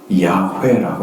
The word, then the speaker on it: 야훼: 그러니까 여호와는 우리가 잘못 번역한 단어인데 여기는 야훼라고 읽으면 그래도 접근하는 거예요.